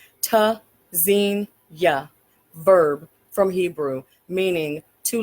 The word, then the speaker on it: Tzynya: pronounced tzenya. Verb from Hebrew meaning to listen for hear spelled t z y n y a. The first letter T is a stop. Disrupts airflow.